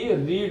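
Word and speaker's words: read: किताब पड़ी तो सी रीड आर ए एड इसको रेड बोलते हैं तो रेड का सेकंड फॉर्म है सी रेड है बुक रीड का second form third form spelling से होती है लेकिन बोलते हैं रेड सीमा स्कूल का सीमा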